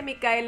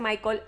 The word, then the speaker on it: Mikael: blomkvist ayer me pues investigar cómo se dice mikael en sueco y se dice mikael ya no les vuelvo a decir michael jaime sigue el sonido